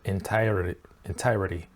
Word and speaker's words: entirety: 'Entirety', no T's, he didn't pronounce any T's in that word. He said /entiredy/. So it's more like a D sound in the middle for the American accent.